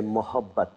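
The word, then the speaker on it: मोहब्बत: And if you feel being a little more generous and a little more gentle, then you say mohabbat. Mohabbat. Mohabbat.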